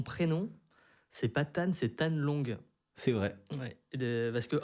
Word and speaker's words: Thanh Long: Mais normalement mon prénom c'est Tan Long et qui s'écrit T-H-A-N-H, plus loin L-O-N-G.